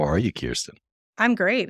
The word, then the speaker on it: Kirsten: How are you, Kirsten? I'm great. It's great to be here. And thank you for nailing the pronunciation of my name.